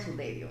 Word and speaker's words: Suderio: Suderio, ¿no? Sí, Suderio, es correcto.